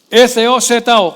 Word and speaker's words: sozo: S-O-Z-O.